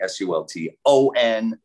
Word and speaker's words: Sulton: They usually spell it Sultan, but it's actually Sulton.